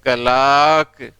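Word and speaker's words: clerk: क्या होगा, कै लाक, कलाक, क्लर्क। जैसे आमे क्लाक, कई ऐसे आप नाम सुने हैं इस तरह से, तो क्लर्क नहीं क्लाक होता है।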